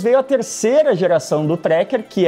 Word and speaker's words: Tracker: e aliás, um parêntese, é sempre Tracker, com a pronúncia em português, e não Tracker ou Tracker, como a pronúncia dos nossos irmãos Yankees seria.